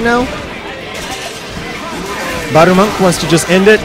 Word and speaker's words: Barumonk: Barumonk. That's the proper pronunciation.